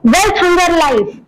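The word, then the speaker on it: Welthungerhilfe: Concern world wide नाम है एक संस्था का, कंसर्न वर्ल्ड वाइड, और एक है वेल्थ हंगर लाइफ, स्पेलिंग थोड़ा अलग है, प्रोनाउंसिएशन वही है, वेल्थ हंगर लाइफ।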